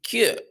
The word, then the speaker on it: que: Remember, in Portuguese, que, in the U is mute.